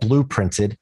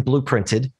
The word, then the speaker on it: Blooprinted: It's called Blooprinted, and it's spelled differently than the color blue. It's B-L-O-O printed.